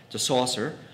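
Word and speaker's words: Saussure: Swiss scholar named Ferdinand assort like you pronounce his last name - Saucer applied scientific methods to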